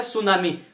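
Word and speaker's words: tsunami: करते हैं साथी गलती, ये जो टी होता है ये टी साइलेंट होता है, यानी जब हम इसको बोलते हैं प्रोनाउंसिएशन करते हैं तब ये टी साइलेंट रहता है और टी का जिक्र नहीं होता।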